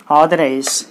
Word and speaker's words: authorize: Authorize. A-U-R-T-H-O-R-I-S-E. There are three syllables. So you put the stress mark on the third syllable from the end. 1, 2, 3. So authorize.